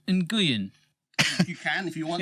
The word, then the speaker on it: Nguyen: How do you say it? Nguyen. Okay. Yes, that would make sense. So the G after the N makes the N heavy.